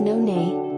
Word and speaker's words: noni: asia especially in polynesia noni pronounced non-a is a lumpy mango-sized